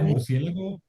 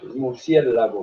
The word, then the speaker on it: murciélago: segunda, murciélago, creo que sí está bien, es una palabra esdrújula, sí, creo que lleva acento en la antepenúltima sílaba.